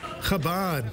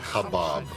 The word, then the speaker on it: Chabad: Chabad has become one of the largest Jewish organizations in the world. How do you say it? Chabad, not Chabab.